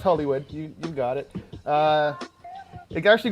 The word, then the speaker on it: Hullewud: And give us the correct pronunciation if I bludgeoned it. No, it's Hullewud.